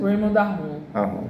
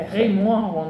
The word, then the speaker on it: Raymond Aron: pensamento soci né rond como é que a pronúncia Raymond Aron é Rayon Aron na verdade mas é certo que